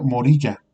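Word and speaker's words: Moriah: Vamos a adentrarnos un poquito a la palabra Moria, que en el hebreo se pronuncia Morilla, no Moria, Morilla.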